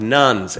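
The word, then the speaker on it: nones: You got to spell it carefully. There is not a significant growth in the population of nuns, but there is a significant growth in the population of nuns, N-O-N-E-S.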